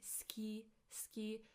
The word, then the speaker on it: 好き: Like 好き好き好き I know that we write 好き but when we say it, we say 好き好き It's as if the U, the U disappears.